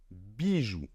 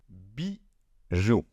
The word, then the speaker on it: bijoux: Bijou. Bijou. Premièrement, le X en position finale ne se prononce pas.